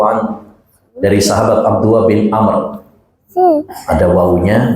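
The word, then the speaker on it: عمرو: mendidik an Abdillah ibn Amrin radhiallahu anhu dari sahabat Abdullah bin Amr. Ada wunya bacanya Amr. Kalau enggak ada wunya bacanya Umar.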